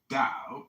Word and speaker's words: Dao: The word Dao, properly pronounced Dao, has lent its name to a way of understanding and living in the world with profound implications for modern societies.